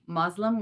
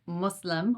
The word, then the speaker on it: Muslim: last and final messenger a common mispronunciation is to say Muslim with a z instead of Muslim with an S and a common misnomer